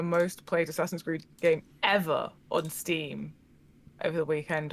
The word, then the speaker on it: Yves: know these names, but I always pronounce it Eve. It's a French name, Yves so try and put a little, I don't know, try to Eve Guillemot.